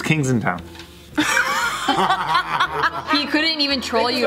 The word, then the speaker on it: Kensington: Yeah, think about Kings it. Kings in town. He tried to troll you with the wrong pronunciation, then he couldn't handle it, and he just was like... That's the real one, it's Kings just in town.